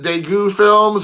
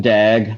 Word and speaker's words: Dague: and is it uh is it daegu films or how do you pronounce that um dag like dagger zag i thought i